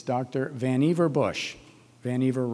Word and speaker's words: Vannevar: Vannevar rhymes with achiever, or in his case, perhaps overachiever.